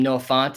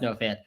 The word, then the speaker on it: Fant: uh noah fant and i called him no font and man i got an insane amount of comments just that were just font font font font it is pronounced no fan what's up sam won